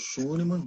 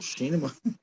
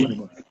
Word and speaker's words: Schunemann: Sou o Schunemann, ou Schinemann. Depende quem que pronuncia, né? Fica mais fácil Sim, Schunemann.